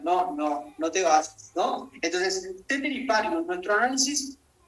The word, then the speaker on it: ceteris paribus: Yo la pronuncio ceteris paribus, algunos se hacen los latinenses y dicen ceteris paribus o como sea, no sé.